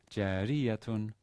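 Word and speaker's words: جارية: So in this exercise 5, sentence 1, the stress is on the third to last syllable in both words. Jariyatun saghiratun. Since the next to last syllable in both cases is short.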